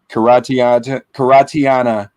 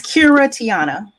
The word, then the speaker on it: Kiratiana: Journalist, freelance media journalist, Karatiana. Am I pronouncing your name correctly, sister? So it's Kiratiana.